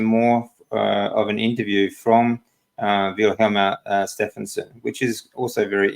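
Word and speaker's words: Vilhjálmur: Vilhjalmur. The accent's on the first syllable. Vilhjalmur.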